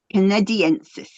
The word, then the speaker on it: canadensis: Is how you would pronounce it? Canadiensis.